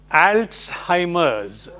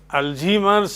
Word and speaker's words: Alzheimer: U this is pronounced alsimer. It is not Alzheimer's or Alzheimer's or as the spelling suggests als it's a disability in memory loss of memory.